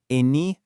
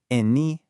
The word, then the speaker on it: Ene: In Brazilian Portuguese, these become Ele, Eme, Ene, and Ese. Go ahead, try practicing that out loud right where you are. Feel how they kind of bounce. Ele, Eme, Ene, Ese.